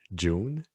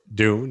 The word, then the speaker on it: Dune: All their songs are about the book June. Come, Oh, Dune? Dune, yes. Dune. Okay. I thought you were saying June.